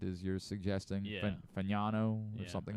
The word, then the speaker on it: Fano: So if you want to give him a leg up because of that fan, it is fan. It's fan fano. Fano. Fano apparently is how they pronounce it.